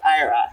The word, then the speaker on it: Ayra: So there's this Yoruba name called, but I wanted people to pronounce it as Ayra. And I was like, the only way they can pronounce it is I spell it Ayra.